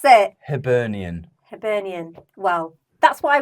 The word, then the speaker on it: Hibernian: name of the team yet I have herian hiber Arian hiber Arian hian hian I don't know I can't pronounce it Hibernian Hibernian well that's what I was going for